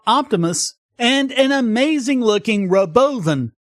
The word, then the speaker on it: Robovan: and an amazing looking Roven spelled Robo van but that's not how he pronounced it an autonomous bus that